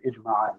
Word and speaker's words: ijma': Ijma. Like Jama, like a group consensus, yes.